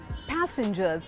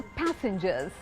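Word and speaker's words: passengers: जी ई आर एस पैसेंजर्स again the stress is ऑन पै नॉट सेंजर सो पैसेंजर्स पैसेंजर्स किसी ने मुझे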